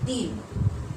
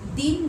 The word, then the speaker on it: दीन: और नेक्स्ट देखिए, दीन, ई बड़ी की मात्रा है, यहाँ छोटी है हर्षी की मात्रा, और इसको खींच कर बोला जाता है दीन।